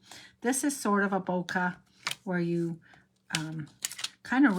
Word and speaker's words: bokeh: Um, in real life, bouquet, pardon me, I keep saying it wrong because 20 years of saying it incorrectly. Hard to break it. Um, bokeh occurs naturally when the